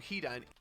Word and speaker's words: Hidan: First syllable! The first syllable. Alright? Pronounce the first syllable. Alright, that's all you gotta do. It's not the second. It's the first.